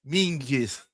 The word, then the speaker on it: Menzies: It's written Menzies, but it's Mingis.